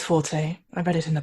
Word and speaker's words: forte: i don't know it's fourth or forte it is forte i read it in